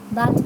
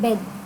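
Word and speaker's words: bathe: बाथ, बाथ means नहलाना, इसका pronunciation कैसा होता है, बेद, बेद, इसको बाथ नहीं बोलते, इसको बेद बोलते हैं, बेद, बेद मीन्स नहलाना, ठीक है।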